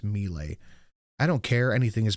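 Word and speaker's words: Milei: him look really bad melee it's pronounced melee I don't care anything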